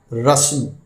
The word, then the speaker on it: رسم: آج کا لفظ ہے رسم، یعنی ٹریڈیشن۔ یہ درست ہے، عام طور سے رسم بولا جاتا ہے جو غلط ہے۔ اس کے معنی ہیں